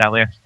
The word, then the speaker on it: Elias: And so I asked him how you pronounce his name, and it was in fact Elias.